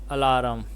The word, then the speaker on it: alarm: A I alarm. AIARM has only two syllables in it. The first syllable A is like the A in China, and the second syllable alarm rhymes with the words harm, charm, and calm.